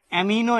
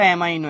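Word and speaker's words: amino: অ্যামিনো acid বা অ্যামাইনো acid. অনেকে বলে অ্যামিনো, কেউ বলে অ্যামাইনো। মানে বানানটা হচ্ছে একচুয়ালি এইটা। অমিনো বা অ্যামাইনো যাই বলো না কেন।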